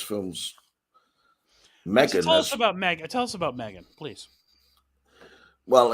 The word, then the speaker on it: M3GAN: Tell us about Megan, please. Well, it's spelled M3GAN, and she is basically a robot.